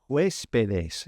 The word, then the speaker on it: huéspedes: The guest house is la casa de huéspedes. Make sure you put that accent on that first E. Huéspedes.